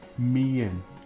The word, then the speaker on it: mien: So if you imagine the word divided into two, the first two letters are a high tone, so you start high. Me. And then the final syllable is low, so you finish with a low.